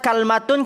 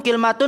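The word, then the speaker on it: كلمة: Tapi kalau ada yang bertanya, Ustaz, kalmatun, kilmatun bahasa Arab juga gak? Iya, bahasa Arab juga. Tapi dia dari suku Tamim.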